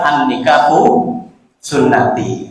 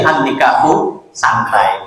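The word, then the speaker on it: النكاح سنتي: ada kan katakan ee Rasulullah pernah mengatakan annikahu sunati kalau salah bacanya jadi annikahu santai Kayak ini KK yang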